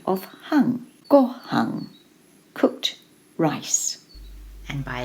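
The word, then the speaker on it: 反: It's pronounced hung, and it's only in this kanji to give the kanji its sound. It's a phonetic element. It gives the kanji the sound of hung.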